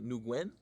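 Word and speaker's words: Nguyen: think by Joseph nuguen I think I should pronounced the man's name new Gwen in this book you're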